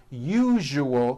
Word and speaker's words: usual: word usual correctly usually break it up into three three syllables you oh that second syllable the one with the underline needs to be voiced put your hand on your throat and feel for the vibration in the second syllable you oh now put it together usual usual like that okay now try unusual